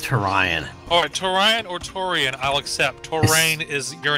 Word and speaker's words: Turian: I pronounce it Torian, I still pronounce it Torian. There's no A before I in Torian.